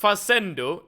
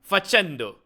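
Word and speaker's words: facendo: The C here is like ch. Uh so it should be So is it is it che? No, Shh. Oh, I don't I don't know. Wait. So, is instead of faccendo, it's fachendo.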